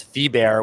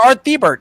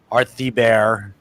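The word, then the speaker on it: Thibert: thee bear and I found out how to pronounce fee bear when he called the shop one time I'm like oh my god you're earthy Burt he's like artsy bear I'm like okay alright you got it mr.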